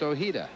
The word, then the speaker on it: Ojeda: from any spanish-speaking country he is from california and he wants it pronounced ohida and that's the way